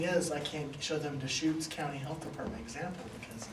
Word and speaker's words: Deschutes: It's Deschutes.